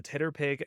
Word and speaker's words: TTRPG: and Penny runs the Titterpig Academy Discord. The Titter Titterpig pick for Tit- TTRPG. tip- tip- tip- tip- Titterpig for TTRPG. Yeah, it's just phonetically Titterpig, TTRPG. The Titterpig Academy, it's so